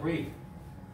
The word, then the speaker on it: breathe: 동사는 이가 붙어서 breathe예요, breathe. 그 다음에 명사는 이가 빠져요. 그래서 breath. 쓰고 있습니다. 숨 말았어. 그래서 dragon's breath 하면 그 용의 숨 막 있다. 숨을 쉰다. 숨을 쉬는 거 동사 맞아요. 오케이, 헷갈리지 마. 동사는 뭐라고 읽는다고? breathe. breathe. 명사는 breath. 짧게 잘라주면 돼.